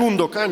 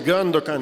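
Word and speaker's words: Gündoğan: No digas Gundogan, es Gandogan.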